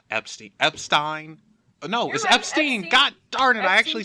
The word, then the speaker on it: Epstein: yeah but epsteen epsteen epsteen know it was Epstein got darted I actually said it right well